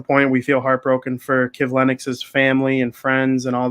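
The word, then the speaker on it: Kivlenieks: 4th of July was the death of Mattis Kivlin. I don't even know how to say it. Perfectly before the show. Kivlenix.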